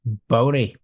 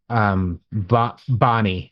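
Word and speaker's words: Bonea: new skull went to Bonnie. I always pronounce it Bonnie, even though it's spelled Boney.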